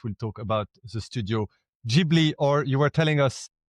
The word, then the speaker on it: Ghibli: wonderful story about how Miyazaki didn't know how to pronounce it. And by the time they worked out it should have been Ghibli rather than Ghibli, it was too late.